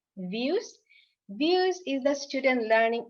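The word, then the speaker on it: vUWS: place is views so v u w s we pronounce it views views is the student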